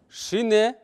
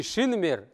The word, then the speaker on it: шине: Шине. Не шинмер, а шине.